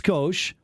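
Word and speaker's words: Scosche: also oh skosh meaning it's little it is pronounced skosh the company was founded by roger and scotia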